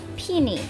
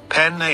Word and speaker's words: penne: Peony, what? Penne is pronounced penne. Oh, penne. Okay, penne, not peony.